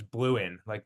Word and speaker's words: Blouin: So the way I pronounce it is Blouin, which is Blouin. great. Blue, like a Democrat, or like blue tar, right?